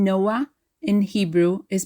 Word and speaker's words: Noah: Hebrew names the name Noah in Hebrew is pronounced Noah no to pronounce it like a native Hebrew speaker we stress the second from last syllable Noah it's not Noah stressing the last syllable